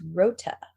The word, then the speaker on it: Luta: the locals call it luta based on a mispronunciation by the japanese occupiers of the actual name of the island which is rota rota so anyway that's